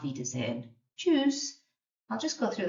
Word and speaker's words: Wiedersehen: So the W is a V sound, and then the IE, pronounce the E. So Wiedersehen.